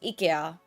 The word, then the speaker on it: IKEA: Well, IKEA is actually supposed to be pronounced IKEA. At least in Finnish, it's IKEA.